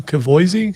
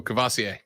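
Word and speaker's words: Kavosiey: I would say his name, but I can't pronounce his first name. Is it Where? Who? What? Cavoisi Smoke? Oh, Cavassier.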